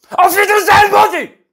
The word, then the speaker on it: Auf Wiedersehen Monty: Auf Wiedersehen, Monty! Tak się mówi po niemiecku, bo to trzeba tak zaakcentować i trzeba tak twardo powiedzieć, więc bohaterem dzisiejszego odcinka jest Auf Wiedersehen, Monty!